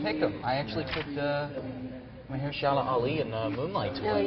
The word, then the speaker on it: Mahershala Ali: I actually picked Mahershala Ali in Moonlight to Oh, win, yeah.